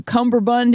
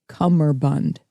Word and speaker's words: cummerbund: will not believe this it's CER Bund I'm sorry there's no B there's no be in the first part